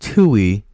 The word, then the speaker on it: Tui: it kind of hurts description says Tui it's pronounced Tui like I said I told you I